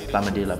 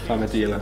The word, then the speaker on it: Plamadaela: I wouldn't expect people to get the like pronunciation, because in my language there's these little like things over the A's that change the pronunciation.